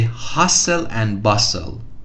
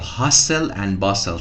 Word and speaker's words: hustle and bustle: It's great to leave the hustle and bustle of the city. It's a very common binomial. Hustle and bustle. T is silent. Hustle and bustle.